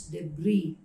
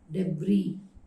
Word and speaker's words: debris: sound of it so the final s is muted so it is to be pronounced as debris debris the next word normally